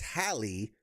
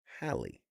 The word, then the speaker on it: Halley: It's Halley, like valley with an H, Halley. Because I keep like the